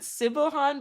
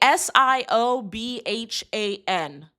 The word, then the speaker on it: Siobhan: remember it but I I pronounce it Civohan but I'm pretty sure it's not pronounced like that. Hold on. That was embarrassing. Hold on. Yeah. How do you pronounce that name? Yes. Okay. S I O B H A N. Did y'all know that's pronounced Siobhan? I've been saying C Sibilhan this whole time.